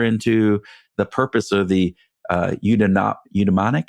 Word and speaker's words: eudaimonic: And if we live too far into the purpose or the eudaimonic, how do I pronounce that?